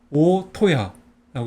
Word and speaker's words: 大戸屋: 그래서 이거는 큰데는 오라고 읽고 집게는 토라고 읽어요. 그 다음에 집옥은 야라고 있습니다. 그래서 오토야라고 있습니다.